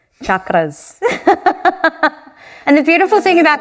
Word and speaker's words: chakras: do you pronounce it instead of sh it's ch like you would say cheese chakras and the beautiful thing